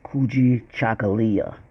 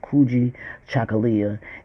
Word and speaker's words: Kujichagalia: As you can see, the Kwanzaa word, Kwanzaa today, word for today is Kujichagalia. That's how it's pronounced. Kujichagalia.